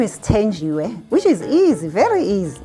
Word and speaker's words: Thenjiwe: I have to try Thenjiwe because it's spelt with a TH. I would say th, but you say it's Thenjiwe. My name is Thenjiwe, which is easy, very easy.